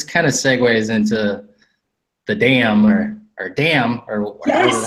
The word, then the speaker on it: DAM: the DAM, what the DAM is, and probably somewhere before there talk about what arbitration is. Sure. So DAM, which is how you say it, that's how I always say it, because I feel like